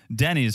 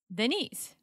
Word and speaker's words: Denny's: don't know something Denise Denny's for you who are new to the podcast and don't speak Teresa she thinks the proper pronunciation of America's Diner is Denise Denise Denise what's it differ